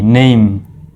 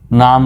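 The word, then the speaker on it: name: যাবে এন এম ই নেইম কেমন উচ্চারণ নেইম নাম নয় আমরা সাধারণত নেম বলি দন্ত ম নেম বলি কিন্তু এটি হলো ভুল উচ্চারণ সঠিক উচ্চারণ হলো নেইম একটু স্টাইল করে বলবেন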